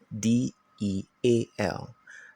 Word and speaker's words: deal: There are 2 vowels sound together, which is the E and A, but you pay attention to the E. That's why it's deal. The second vowel letter is silent, deal, because of the E there, and you use the long sound. It's not del, all right?